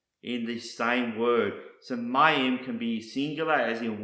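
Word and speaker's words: מים: which is used all throughout the scriptures is pronounced Mayim and it's the word for water or Waters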